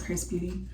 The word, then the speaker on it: Xrsbeauty: got this hair featuring chris beauty um it's xrs beauty but the pronunciation is chris beauty um so yeah they